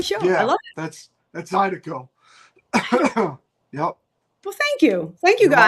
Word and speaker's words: Zydeco: love That's Zydeco.